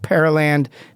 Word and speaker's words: Pearland: Epic Plumbing out of Pearland, Texas. Pearl. Sounds like Pearl Land. If you were to sound it out, Pearl Land is how you spell it.